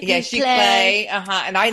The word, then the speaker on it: Giclée: also have those lovely prints, which I can't pronounce the word. I think Yvonne knows how to say it. Giclée. Yeah, Giclée.